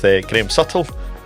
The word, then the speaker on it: Graham Suttle: Uh today I'm delighted to be sitting with Graeme Suttle of Cole uh Limited.